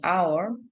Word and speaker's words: hour: A house, but an hour. The age at the beginning of hour is silent.